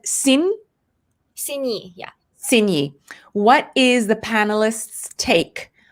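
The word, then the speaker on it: Xin: and stacy it's actually for you is it x i n do i pronounce it zin is it oh okay so it's sin stacey is for you she said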